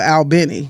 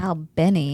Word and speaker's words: Albany: maretta there and then they have Albany like New York and they call it Al Benny yeah Al Benny Al Benny yeah mhm so